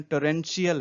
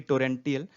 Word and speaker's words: torrential: ये देखें यहाँ पे इसका प्रोनाउंसिएशन टोरेंशियल है, न कि टोरेंटियल।